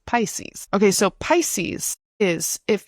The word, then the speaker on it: Pisces: Okay, we're going to go to Pisces, Capricorn, and then Aquarius. Okay. So, Pisces. Pisces, we call it Pisces in English. Pisces. I know that in Spanish it's like Piscis, but in English it's Pisces. Pisces.